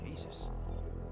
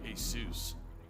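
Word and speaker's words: Jesús: name Derek middle name Jesus I think they'd pronounce it hey soos uh you might want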